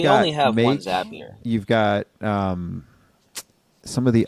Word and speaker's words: Zapier: Couldn't have done it without Zapier. We all know how to pronounce it now too, at least. Yeah, makes you happier. Yeah, couldn't have done it. So I don't know. Zapier makes you happier.